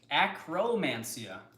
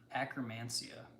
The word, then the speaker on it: Akkermansia: When I first heard it talked about, I thought it was acromantia. And I thought about a little acrobat guy. And I really liked that. So how is it spelled instead? It's spelled Akkermansia. Akkermansia. Oh, so it's acker instead of acro.